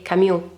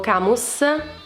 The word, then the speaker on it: Camus: Per dovere di cronaca, il Cavaliere d'Oro dell'Acquario è di nazionalità francese, perciò la pronuncia del suo nome dovrebbe essere Camus, ma io l'ho pronunciato Camus per mia praticità.